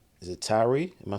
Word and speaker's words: Tyre: is it Tyre? Am I saying it right? Yeah, Yep. Tyre Nichols.